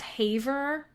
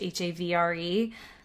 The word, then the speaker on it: Havre: So the last place I have is My guess is it's pronounced Havre, but it's definitely French, Havre. So Havre, but I'm not going to say it with a French accent, so I don't sound like an asshole.